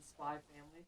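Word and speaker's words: Spy × Family: The X is silent in Spy Family.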